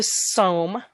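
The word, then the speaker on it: Sawm: Number 4 is the Som. It's pronounced with the long O.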